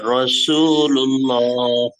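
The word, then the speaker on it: رَسُولُ اللّٰه: লা ইলাহা ইল্লাল্লাহু মুহাম্মাদুর রাসূলুল্লাহ রসু, রা বলা যাবে না, হ্যাঁ র বলতে হবে, রসুল্লাহ। রাসূলুল্লাহ লুল্লাহ, রুল লুল্লাহ বলতে হবে, হ্যাঁ রসুল্লাহ।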